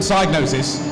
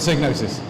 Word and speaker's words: Psygnosis: gnosis or cycle now the beginning actually everybody pronounce it Psygnosis but the guy who invented the word pronounces it sig notice so internally we would always say Cygnus and